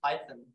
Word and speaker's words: Python: Yeah, why you just write Python does not rhyme with siphon.